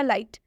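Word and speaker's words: light: तो ये हो जाएगा लाइट। लाइट मतलब होता है रोशनी। यहाँ पर आई के बाद GHT आया है इसलिए आई का उच्चारण आई हुआ है।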